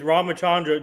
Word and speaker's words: Ramachandra: This is how you pronounce it. Ramachandra. Oh, you were right. Yeah. Well, actually, he said Chandra. I made it more like a SH, so we were both wrong. It's Ramachandra. Jabba, can you say it?